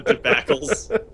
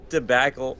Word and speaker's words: debacle: Yeah, Rob, did you mispronounce? I love when Rob says tobacle. It's so good. My favorite thing. It's a good time. Debbacle. How do you say tobacle? I say debacle at a normal person.